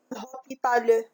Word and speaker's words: hôpital: L'hôpital. La lettre muette ici, c'est H. Aussi, c'est E. On dit hôpital.